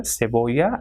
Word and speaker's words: cebolla: And this sa sound is also pronounced with ce, like it will pronounce as se, and ci will be si. So we have word here cebolla and ciclo.